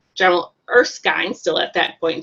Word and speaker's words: Erskine: actually we got corrected by how we were pronouncing his name is a short eye it's erskine so i talked to my husband afterwards and